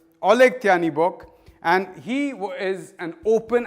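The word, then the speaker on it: Oleh Tyahnybok: who I'm going to look up the exact pronunciation because I don't want to get this wrong. This man's name is Oleg Tyanibok. Oleg Tyanibok, and he is an open anti-Semite and leader of the neo-Nazi party Svoboda.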